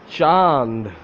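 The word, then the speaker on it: چاند: Chand.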